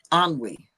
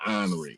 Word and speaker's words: ennui: It's called ennui.